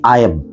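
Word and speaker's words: I've: খেয়াল করুন, আই, তারপরে কমা আছে, তারপরে ভিই। এটার উচ্চারণটা হবে আইব, আইব, অর্থাৎ আই হ্যাভ।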